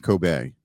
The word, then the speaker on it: Kobe: Yeah, it's Coobe beef. Well, it's Coobe it. Okay. All right. Um, and uh, the E at the end is pronounced as an A.